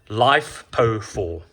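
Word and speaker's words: LiFePO4: lithium and especially the light is it a lipo4 how do you pronounce it lipo I think it's lipo4 uh life po4 life po4 that's it so guys that's it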